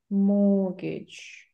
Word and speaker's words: mortgage: labor be in labor can you hear T Mortgage morgage and what's morgage mortgage do I say